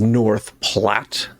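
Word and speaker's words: North Platte: We will uh continue on over here to I found out that it is north plat rhymes with flat.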